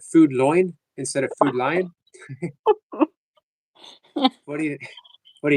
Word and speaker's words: Food Lion: doing it the right way, not Food Loin, Food Lion.